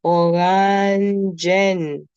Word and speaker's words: Orangen: Then is also the orangen. Look, I emphasize on the E. Alright. I emphasize on the N at the end of it.